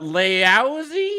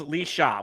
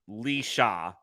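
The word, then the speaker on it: Laoise: do this again but laozi equals Lee shot which how the hell does l-a-o-i-s-e pronounce Lisha shout out to the Irish folks I know Irish words and names are hard but he has a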